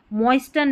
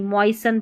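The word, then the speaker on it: moisten: जैसे इसको फास्टन नहीं पढ़ेंगे। फ़सन मॉइस्टन नहीं मॉइससन पढ़ेंगे। मोइसन ठीक है? यहां पर देखिए लिसन नहीं लिसन सुनना लिसन नहीं लिसन फासन मोइससन लिसन ऐसे पढ़ना है फासन का मतलब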